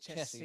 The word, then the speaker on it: Chessie: Chessie, like the game.